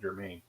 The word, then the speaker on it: Germain: It looks like it's spelled almost like German, but has an extra N at the end of it, makes it Germain.